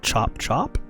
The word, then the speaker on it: Chap Chap: first one up is called chop chop i believe is the way she pronounced it but it says chap chap so let's check this